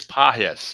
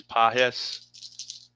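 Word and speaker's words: Pages: So, it is pahes. Is that what you're saying? It is pahes. The G is kind of like a soft G. Pahis.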